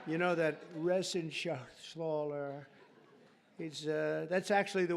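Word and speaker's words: Reschenthaler: And Guy Resen Shaaler, you know that Resen Sler, he's uh that's actually the way you pronounce it.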